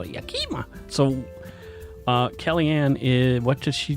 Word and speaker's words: Yakima: A lot of people pronounce it Yakima. Yeah. That's not how you pronounce it. It's Yakima, not Yakima.